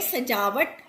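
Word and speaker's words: सज़ा: सजा मतलब होता है सजावट, किसी की डेकोरेशन करनी, ठीक है। यहाँ हमने बिंदी लगा दी तो इसका उच्चारण होगा सजा।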